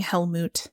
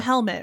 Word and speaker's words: Helmut: It was Grimson, although I love saying Helmut. Yeah. You'll be able to say his name many more times when reviewing the forthcoming Fantastic Beasts movie. And we're not calling him Helmet, right? We've moved beyond that.